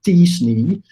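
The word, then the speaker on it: t-SNE: used a data science technique that i'm told is pronounced as disney which it was the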